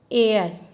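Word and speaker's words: heir: और इसको हम क्या? एयर। क्या पढ़ते हैं इसको? एयर। तो इसमें हम क्या यूज़ करेंगे? एन। क्योंकि इसमें एच साइलेंट रहता है।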